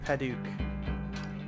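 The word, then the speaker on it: Padauk: This is Paduk.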